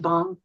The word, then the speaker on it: Bang: it's about five brothers and their baby sister, and their last name is Bang, which is a Norwegian name. It might be pronounced Bong, but it's not as funny.